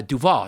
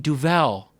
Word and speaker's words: Duvel: and she went quoi and i went uh duval you know the beer and she did like the what like seven times and then she went oh you mean duvel and i was like you made me do